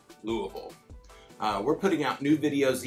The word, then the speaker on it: Louisville: been putting out videos all about our city pronounce louisville get it right it's not louisville it's not louisville we say louisville we're putting out new videos each week if